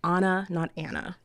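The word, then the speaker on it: Breauna: that it can't be simple it's b-r-e-a-u-n-a so Anna not Anna what's like my daughter's name it's Adriana not Adriana even though it's spelled a d-r-i-a-n-n-a Yeah Anna Anna not Anna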